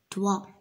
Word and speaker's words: doigt: Doigt. Mhm. La lettre G, elle ne se prononce pas.